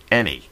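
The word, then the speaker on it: Enay: Despite the way the word looks, it is pronounced Eni.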